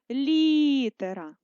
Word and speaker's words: літера: і записуємо слово літера ставимо наголос літера наголошений звук і ставимо наголос на літерою і останнім ми запишемо слово